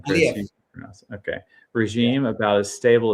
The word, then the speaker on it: Aliyev: How do you pronounce that name, Chris? Aliyev.